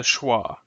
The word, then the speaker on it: schwa: here uh this IPA symbol is called the schah uh it represents the unstressed Sounds in this